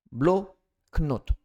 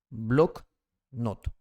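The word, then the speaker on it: блокнот: La primera O suena como A, no es A, suena como A debido a que aquella se encuentra en la sílaba átona.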